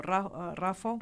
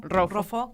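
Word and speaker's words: Roffo: Él es eh delegado delegado del Instituto Rafo, Rofo, que siempre lo pronuncio mal, perdón. Sí, Rofo, eh, bueno, que es el hospital oncológico de excelencia de nuestro país.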